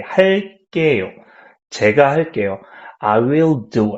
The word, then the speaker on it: 할게요: And plus, to pronounce it like Korean, like native Koreans, you can pronounce 게 stronger, like 게. So, for example, 할게요, you can say 할게요, 할게요.